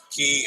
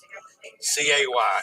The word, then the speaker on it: Cay: C-A-Y is pronounced key properly.